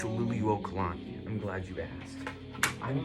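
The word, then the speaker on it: Liliʻuokalani: It's Luli Wokalani.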